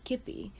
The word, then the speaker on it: kibbeh: Something else we would often sell out of was kibbeh. It spelled like it looks like kibbeh, but Gada pronounces it kippy.